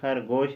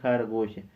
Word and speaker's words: خرگوش: کے بعد لفظ خرگوش، آپ نے خرگوش نہیں پڑھنا ہے۔ اگر آپ نے فارسی کا صحیح طریقے سے تلفظ ادا کرنا ہے تو جس طرح میں آپ کو بتاتا ہوں اسی طرح آپ نے ادا کرنا ہوگا، اسی طرح آپ نے پڑھنا ہوگا۔ فارسی کا تلفظ کیا ہے؟ خرگوش، خرگوش نہیں، ہم کہتے ہیں خرگوش، فارسی والے کیا کہتے ہیں؟